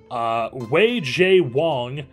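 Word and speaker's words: Wei-Chieh Huang: Wei J. Wong is how Baseball Reference says to pronounce this guy's name, is a reliever for us in AA.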